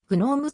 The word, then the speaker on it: GNOME: は gpl である綴りが同じであるノームはノームと発音するが gnome は gnu のそれと同様ノームと発音する gnome